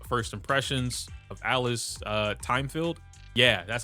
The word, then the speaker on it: Thymefield: right into Io's first impressions of Alice uh Timefield. Yeah, that's how you pronounce her name. Timefield.